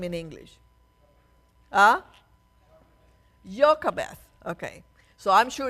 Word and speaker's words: Jochebed: Jochebed. Okay. So I'm sure it's spelled wrongly somehow, but that's her name, Jochebed.